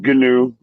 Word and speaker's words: gnu: to just call him gnu yeah i don't know how to turn outside at all no you actually said it right it's just pronounced new it's pronounced new but like if i